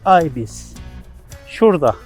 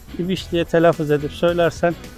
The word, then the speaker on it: Ibis: "Oh," he said, "Ibis Hotel, Ibis." He pointed it out right there. Of course, if you pronounce the English 'Ibis' as 'İbiş', nobody in Glasgow will know it.